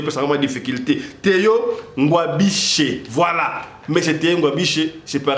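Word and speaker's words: Ngwabidje: Gouverneur ya Sud Kivu Théo Ngwabishwe moi prononciation peut vraiment difficulté. Théo Ngwabishe, voilà.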